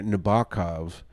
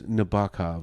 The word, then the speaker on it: Nabokov: Nabokov so I'm like okay that's how you say it Nabokov and then the teacher was like no it's Nabokov and I was like